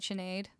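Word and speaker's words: Sinéad: So, who here uh type in the chat whether you're more familiar with the Chenado Connor version. So, right, Chenade. It's spelled like this, but you don't have to spell it with the accent.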